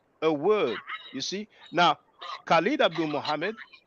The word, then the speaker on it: Khalid: You see now, Khalid Abdul Mohammed. We pronounce it Khalid in English. In French we say Khalid. But the Arabic speakers they pronounce it Khalid because the ha sound does not exist in Yeah.